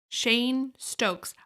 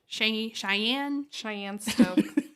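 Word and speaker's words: Cheyne-Stokes: I had to Google how to pronounce that because I've always been calling it Cheyenne Stokes. Well, it looks like it's spelled like you would start the word Cheyenne, so Cagy.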